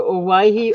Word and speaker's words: Owyhee: It's the Owyhee Opal. This has got that pronunciation like Hawaii. It's took me a while to figure that out.